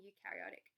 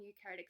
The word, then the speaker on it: eukaryotic: So we've got 2 main cell types, prokaryotic and eukaryotic. I kind of remember these as like pro, meaning like old, and eu, meaning like new, because it rhymes with new.